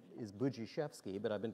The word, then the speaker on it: Budziszewski: I've been called, my name is Budziszewski, but I've been called Budweiser.